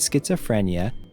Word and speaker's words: schizophrenia: could say, people with schizophrenia may experience auditory or visual hallucinations that can be very distressing. It is another difficult word to pronounce, with lots of syllables and a tricky CH sound.